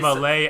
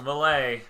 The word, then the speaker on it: Mallet: you we are on malay island malay island malay island which is spelt like mallet for the record wow yeah so malay